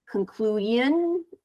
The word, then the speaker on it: conclusion: I just a little bit I heard conclusion a little bit, whereas I would encourage you to pronounce that S-I-O-N as shun.